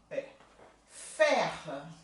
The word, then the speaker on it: faire: Faire.